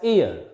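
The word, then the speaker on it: heir: h e i r here this h is silent is not pronounced it is pronounced as ear and next some abbreviations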